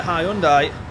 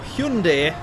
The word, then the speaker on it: Hyundai: Or is it just that the Hyundai or Hyundai to give it its proper pronunciation is just so much better than the Audi.